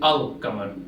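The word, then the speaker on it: القمر: So the Arabic word for moon is Qamar, and if we combine that with Al, we pronounce it Al-Qamar.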